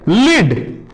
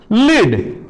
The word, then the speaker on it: lead: যেমন আর একটা শব্দ আছে লিড, LEAD, লিড, আর একটা LEAD, একই বানান কিন্তু উচ্চারণ আলাদা, অর্থ আলাদা। যেমন লিড মানে পরিচালনা করা, আর একটা উচ্চারণ হবে লেড, লেড মানে এক ধরনের সীসা, একটা মেটাল পদার্থ।